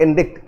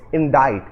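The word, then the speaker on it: indict: काफी लोग इस शब्द को प्रोनाउंस करेंगे इंडिक्ट। इट इज नॉट इंडिक्ट, इट इज इंडाइट।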